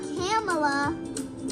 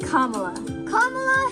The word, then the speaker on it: Kamala: like Shala or Shala it's not cameel it's not Cala it's not CA it's Kamala Harris we got to call